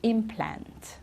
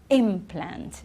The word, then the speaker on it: implant: same word okay so when it's the verb the stress is at the end okay to implant okay or if it's a noun an implant it's right at the beginning here it's easier with